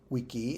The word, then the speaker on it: vici: 30 across, veni, vidi, vici, or wiki, if you prefer the old pronunciation.